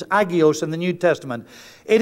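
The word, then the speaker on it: ἅγιος: Greek word agios or hagios they drop the H and pronunciation as agios in the New Testament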